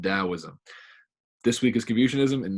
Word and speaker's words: Taoism: Even though it's spelled with a T, it's pronounced Taoism.